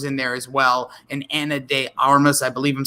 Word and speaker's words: Ana de Armas: And Ana de Armas, I believe I'm saying her name correctly.